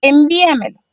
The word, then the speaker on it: envíamelo: El segundo ejemplo que tenemos aquí es envíamelo. Envíamelo también tiene su sílaba tónica en la cuarta de atrás hacia adelante.